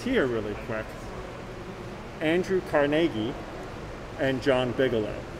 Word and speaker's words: Carnegie: Now, often we'll say Carnegie, Carnegie Hall, you know, Carnegie Mellon. But Andrew himself would have said Carnegie, or Carnegie is how he would have pronounced his name. So you choose how you want to call him. Carnegie, Carnegie, or Carnegie, the good old American fashioned way.